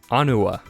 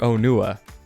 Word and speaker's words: Onua: And now we come to Onua or Onua. Both are totally cool ways to pronounce it.